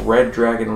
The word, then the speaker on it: Redragon: design with a red red dragon logo above the arrow keys on the right side yeah it's spelled redragon but I'm just going to assume it's pronounced red dragon R back to the